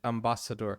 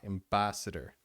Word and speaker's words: ambassador: And then he said ambassador, which is a wrong word stress. The stress needs to be an ambassador. Okay, so it's not ambassador. The stress is not in door. The stress is in ba, ambassador.